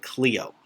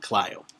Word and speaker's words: Clio: client just for reference some people call it Cleo i pronounce it Clio go to your administrator